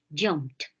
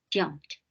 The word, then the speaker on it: jumped: Because the last one is P, you pronounce like a T. Jumped. La ed suena como una T. Jumped.